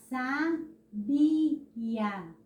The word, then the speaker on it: sabia: Mas se eu disser Maria é sábia, olha só como já modifica.